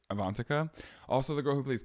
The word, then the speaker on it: Avantika: wrong last week I also said avant's name wrong I said avantika she played Karen and Mean Girls her name is avantica also the girl who